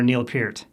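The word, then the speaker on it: Neil Peart: lyrical brilliance from drummer Neil Pier. Yes, that's the correct pronunciation, and I care enough to get it right.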